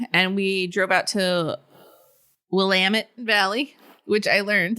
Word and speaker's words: Willamette: took one day and we drove out to willamette valley which i learned willamette or willamette it's willamette but it's spelled willamette so yeah so i always thought